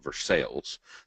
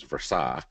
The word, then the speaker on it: Versailles: I live in a small community called, well, the rednecks around here pronounce it Versailles. The proper pronunciation is Versailles, and then Price lives about 20 minutes to the east in Lexington, Kentucky.